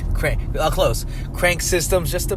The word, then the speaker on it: Krank: Yank? Crank. Close. Crank Systems, just the best gym in Nutley, New Jersey, baby. So if you're around, check it out. It's spelled YANK, right? KRANK, Crank with a K.